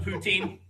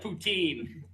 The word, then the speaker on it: poutine: West Coast Canadians that the different flavors of poutine the only true boots in you can get